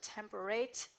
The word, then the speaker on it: temperate: not a perfect match temperate is probably the way they pronounced it during Shakespeare's time and so temper rate and dates rhyme so we are going